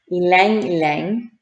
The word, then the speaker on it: ylang ylang: this is what i had to look up ylang ylang one drop of jasmine and one drop of